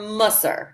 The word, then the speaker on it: Mussar: heard the difference, but I will attempt Mussar to pronounce. Or Mussar. It depends on which syllable you put the accent on, but both of them are definitely usable.